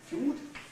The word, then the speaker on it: fjord: Which in Norwegian is pronounced fjord. Fjord, something like that, fjord. Yeah, I'm putting the R into the retroflexion of the D, as I have been taught to do in Swedish and Norwegian, when I have clusters